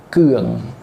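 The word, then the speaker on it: keung: Keeng itu mungkin kalau spellingnya, kalau ejaannya K E U N G. Keeng seperti itu ya.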